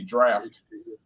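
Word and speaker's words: draught: And by the way, this word draft, that's the old English way of spelling it, D-R-A-U-G-H-T, draft. We spell it with an F here, but over there they spell it with a. And they also say things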